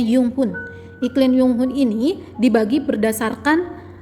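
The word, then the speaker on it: Junghuhn: Selanjutnya ada namanya iklim Junghun atau dibacanya Yunghun.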